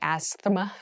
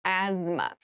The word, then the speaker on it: asthma: has very interesting spelling there's a th in the middle but we don't say Asma we say asthma so kind of ignore